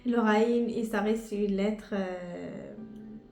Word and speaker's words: غ: qui c'était un petit peu difficile pour la prononciation, mais pour aujourd'hui, c'est le R, c'est le Raïn. Le Raïn, et ça reste une lettre avec un peu d'effort acquis facilement.